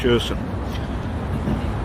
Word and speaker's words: Kherson: The Ukrainians have now taken more land near Kherson, it's spelt with a K but pronounced with an H, Kherson, than the Russian army has taken in the Battle of Donbass.